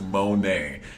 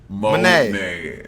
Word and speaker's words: Monet: My name is Monet. Monet, not Monet. Monet, I have an accent, and I'm from the South.